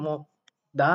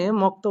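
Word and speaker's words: 먹다: অবশ্যই কমেন্টে জানাবেন যে আসলেই মক্দা না হয়ে মক্তা হলো কিভাবে সেটা আপনারা জানেন কিনা বা সেটা আপনারা ধরতে পারছেন কিনা বা বুঝতে পারছেন কিনা। অবশ্যই আপনারা কমেন্টে জানাবেন। তো এখানে মক্তা উচ্চারণ হবে।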